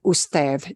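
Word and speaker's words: usted: so como esta and they may or may not use the word ustev try that last word us and that D at the end is going to sound more like a th ief forget and pronounce it like an English d it's not a huge big deal okay perfect though and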